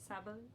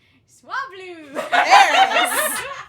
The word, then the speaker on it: Swablu: Sabalu? Swablu!